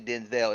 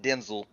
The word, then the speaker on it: Denzel: It was just like my mind getting blown when Denzel Washington had an interview and he said it's not actually Denzel, it's Denzel. I'm like, what?